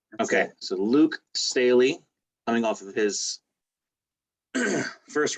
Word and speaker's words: Staley: last name wrong is it's staley yeah that's it just it's just like stanley without the n okay so luke staley coming off of his